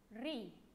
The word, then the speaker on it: riz: La lettre R avec I, on dit riz. Et encore, on a le riz. On mange le riz. Ici, je ne prononce pas le Z. Je dis seulement R, I, ri.